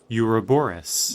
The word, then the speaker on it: Ouroboros: Ouroboros. Ouroboros. Well, actually, it's spelled... The noun version is O, but it's pronounced with a U. Interesting. So the O is silent.